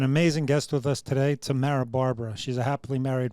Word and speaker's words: Tamrah: And Tamrah, 2 syllables. Tamrah.